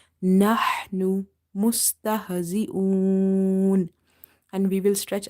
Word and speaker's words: نحن: Ha is from the middle of the throat. So in order to pronounce this ha, you have to open the mouth wide and you have to exhale the air out. Nahnu. If you say nahnu, it will be wrong because it will replace